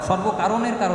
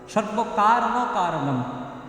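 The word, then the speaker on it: সর্বকারণকারণম্: এই উচ্চারণটা একটু ভুল হয়ে যায়। সর্বকারণ কারণ, সর্বকারণের কারণ নয়, সর্বকারণ কারণম।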